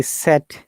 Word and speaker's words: said: Yeah, it is one of the most common mispronounced words. It is sound like said, S-E-D, said.